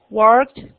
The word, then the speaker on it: worked: Worked, worked. Recuerden que con ed, después de cat, se pronuncia con t.